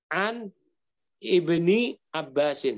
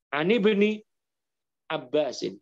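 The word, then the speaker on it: عن ابن عباس: Misalkan ada hadis an ibni Abbasin, hamzah wasal itu. Udah dibacanya jangan an ibni Abbas, tapi an ibni Abbasin.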